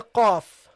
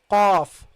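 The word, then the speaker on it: قاف: So the qaf is a different letter than the ka. It is the qa. You see, aq. And if you cannot pronounce it, try it first. This sound, aq. Okay, that's a bit easier. I've seen that a lot of students, it's easier for them to pronounce this than qa, qu, qi.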